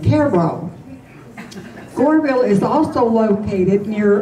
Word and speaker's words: Cairo: Another is similar but pronounced differently, Cairo.